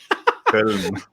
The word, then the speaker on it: Köln: Köln.